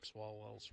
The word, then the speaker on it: Swalwell: Swalwell.